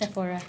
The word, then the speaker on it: Sephora: and like say Sephora or how do you pronounce it Sephora Sephora yeah maced MH and of course like